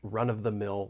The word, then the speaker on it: run-of-the-mill: When pronouncing this phrase, I want to point out that linking may occur. We can link the final consonant sound in run with the beginning vowel sound in of.